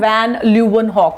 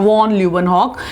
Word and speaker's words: van Leeuwenhoek: the answer is Anton van Leeuwenhoek, or von Leeuwenhoek. You can pronounce it the way you want.